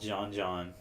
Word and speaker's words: Jean Jean: We saw this band before them that you might like, called John, but it's spelled Jean Jean.